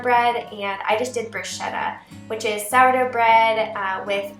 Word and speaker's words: bruschetta: to put on to I guess I pronounced it wrong it's bruschetta yes so we do tomatoes